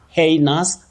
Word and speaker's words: heinous: In the first place, we don't have neous. That vowel glide, what we technically call a diphthong, it's not there. It's nus, nus, with a schwa, a weak vowel sound. Nus, not neous. Heinous crime, heinous offense, heinous act, not heinous and not heinous. So, it's heinous.